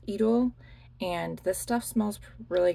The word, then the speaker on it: Idôle: And then I have Idôle, which is idol, but in French it's Idôle.